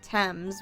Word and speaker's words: Thames: towards the tame tames I think the way they say it is the Thames which Thames thanks thanks British people for omitting like three syllables in there but all right let's